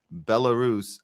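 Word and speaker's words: Belarus: Um, and I should have pronounced that. It was Bellarus. I didn't do that. I I read that off wrong.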